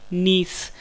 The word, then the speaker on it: gneiss: सही आंसर है option D नीस। Friends आपको इंग्लिश में वर्ड भी याद रखना है, इसकी स्पेलिंग है GNEISS, जिसमें जी साइलेंट है, यानी नीस जो है जब ग्रेफाइट